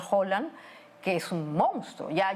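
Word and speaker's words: Haaland: este jugador Holland o acá le dicen jalan pero se pronuncia Holland que es un monstruo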